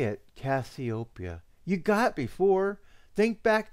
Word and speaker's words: Cassiopeia: constellation my darling author that would be me copia when do you plan on weaving our next tantalizing encounter it's not copia no it's copia you you had last time